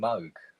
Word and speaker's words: Moog: It was using the rhyme of Rogue and Moog. Yeah, exactly. And, you know, absolutely confirming to all it's pronounced Moog, sort of thing.